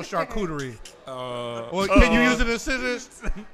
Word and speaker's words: charcuterie: it the opposite way she said okay so it's charcuterie she says card shooter oh shooter and she can't get it right but